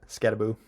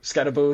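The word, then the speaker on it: Skattebo: Scatabo is Scat Scataboo. Yep. Scataboo, excuse me. Is I think it's the guy spelled Yeah, it's spelled Scatabo, but it's I've always heard it's Scataboo.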